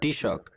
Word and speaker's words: Taoiseach: Enda Kenny es el actual Taoiseach, o jefe de gobierno, o ¿cómo se pronuncia en irlandés? Taoiseach.